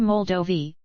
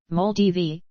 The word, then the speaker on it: Moldova: Moldova, mol-D-OH-və, sometimes UK, mol-D-və, Romanian pronunciation, officially the Republic of Moldova, is a landlocked country in Eastern Europe.